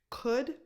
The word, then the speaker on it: could: The L is completely silent here too. Would, could, should. 0 L, nothing.